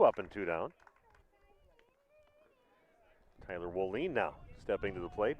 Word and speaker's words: Wollin: W O L L I N's pronounced Wollin.